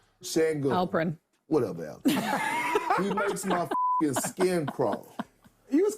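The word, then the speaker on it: Şengün: Sengun, he at least gets checked on the pronunciation of his name. Sengun.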